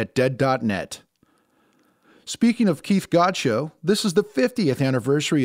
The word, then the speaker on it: Godchaux: more recently god's show it rhymes with god show not dog chow 50 years ago this